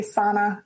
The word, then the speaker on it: sauna: family is finnish and we have a sauna or people normally say sana i always pronounce it differently we have a sauna